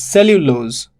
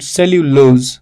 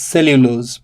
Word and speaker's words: cellulose: and two all right stress falls on the first one so it is cellulose not cellulose see the difference it